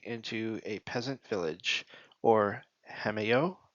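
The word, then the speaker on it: hameau: He inspired Queen Marie Antuinette to transform a remote corner of the park of Versailles into a peasant village or hameo. Hameu spell it.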